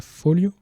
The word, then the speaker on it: Foglio: fois ci l'artiste fils foglio apparemment ça se prononce fils folio ces italiens c'est un illustrateur old